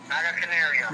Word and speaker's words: Naga Canario: the 13 Pepper powder Naga Canario that's you pronounce it like that Naga Canario Naga Canario all right about a nickels